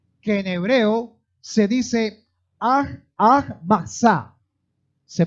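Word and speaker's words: מצה: Y una de ellas es la fiesta de los panes sin levadura, que en hebreo se dice Matzah. Se pronuncia así, que es fiesta de los panes sin levadura.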